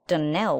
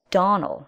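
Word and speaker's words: Donnell: dreams often is not as for that danelle woman she'll get no danelling for me i can assure you the name is donal and always has been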